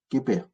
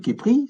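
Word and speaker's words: Khéper: Eux, ils vont lire Képer. Mais Képri, c'est pareil, c'est qu'on rajoute des voyelles pour pouvoir le vocaliser. Et effectivement, on a vu Képri. Quand on a vu Képri, Ra, Amon, ce Képer là, le scarabée, là, Képri.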